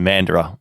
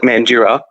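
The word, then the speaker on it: Mandurah: true it's true and people are going to pronounce that mandira for so long it's not funny well i gonna say is anybody like oh how did how would the americans pronounce it that's gonna be the real problem oh yeah it's very cheap it would definitely be mandura for them i think yeah because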